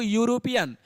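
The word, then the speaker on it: European: अगला देखिए बाबू यूरोपियन, यूरोपियन भले यहाँ पे ई से लिखा हुआ है लेकिन इसका जब प्रयोग करेंगे तो यूरोपियन देखने ऐसे होगा।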